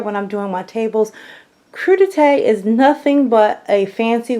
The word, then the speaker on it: crudité: it's spelled CR u di te so I pronounced just the way it sounded so I will call it crudités and you know just to save anyone any